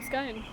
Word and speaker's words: scone: Scone or scone? Scone. Scone. It's scone. It's a scone. It's not scone.